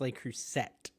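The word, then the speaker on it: Le Creuset: Tim you'll know this how do you say the French cast iron brand they they cruset is that it l cruset yeah oh I crush on that I say l crus so it's l cruset yeah L cruset okay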